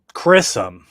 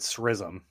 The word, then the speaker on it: Chrism: I probably mispronounced it. Just give me the pronunciation, bro. Chrism. There we go. I think I said srism.